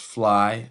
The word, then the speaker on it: PHLY: It's pronounced fly. Um it's spelled P H L Y and it's also acronym that stands for peace, happiness, love, yours.